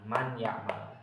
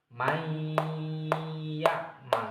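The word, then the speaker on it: من يعمل: Jadi, kita enggak boleh membacanya kok man ya. Enggak boleh. Enggak boleh dalam Al-Qur'an enggak boleh kita membacanya man ya'mal. Yang boleh gimana? Memasukkan suaranya huruf nun ini menjadi huruf ya.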